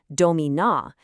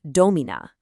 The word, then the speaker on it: domina: So a word like domina, you don't say domina, you say domina.